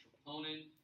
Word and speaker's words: troponin: red parts right here that's called troponin also heard it pronounced troponin always you pronounce your trophy okay and then you